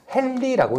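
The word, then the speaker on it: henry: 단위로는 H라고 하는데 이걸 읽을 때는 우리가 헨리라고 읽습니다.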